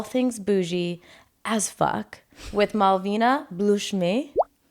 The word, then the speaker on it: Malvina Blloshmi: Today we have the queen of cocktails and all things bougie as fuck with Malvina Blloshmi. Did I say it right? Close. Malvina Blloshmi.